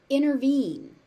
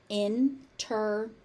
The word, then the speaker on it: intervene: Intervene. Intervene. Intervene. Again, we have a T in the middle of the word. And what happens to it? It just disappears.